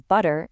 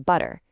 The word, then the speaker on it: butter: First, you've got the flap tea, the lazy tea that turns butter into butter.